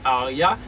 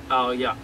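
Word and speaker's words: Haaiah: Tant que nous parlons de 12e génie qui c'est 12e génie, excusez, qui c'est Aria, qui s'écrit H-A, I-A-H, c'est 12e génie, ils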